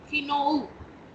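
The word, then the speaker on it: 昨日: yesterday yesterday means Keanu Keanu but the spelling has अ उ after it इज इट किनो और इज किनो नो नो इट इज नॉट किनो इट इज किनो किनोऊ उो किनोऊ इट इज किनोऊ किनो उ या किनो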